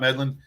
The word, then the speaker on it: Medlin: Hey, welcome back to a Badge of Honor podcast with John and Sam and the amazing Scott Medlin.